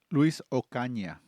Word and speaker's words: Luis Ocaña: Luis Ocana? Luis Ocaña.